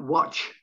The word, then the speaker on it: watch: Almost a slight pronunciation of the T, the letter T in the word watch. Not watch, watch.